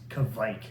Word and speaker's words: Kveik: do you pronounce it some people look at this and i've heard several different versions but the the best and most appropriate one that i found is kavik and kavik yeast is